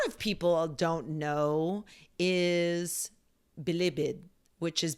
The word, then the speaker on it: Bilibid: known as Bibid prison bibid prison my mom does not like the way I say bibid um it's toalog word she's all like bibid I mean the emphasis on the wrong syllab I Yeah you okay